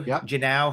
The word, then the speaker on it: Henao: Yeah, they're going to call up Angel Henao, I believe is how you Jenao, Henao, I believe that's how you pronounce it.